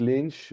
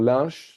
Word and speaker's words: Lynch: So whether you call it Lynch or Lynch doesn't matter to me. Both pronunciations are accepted, but I have to say that Mr. Lynch himself, after being knighted by the French king under the Restauration, insisted for his name to be pronounced à la française.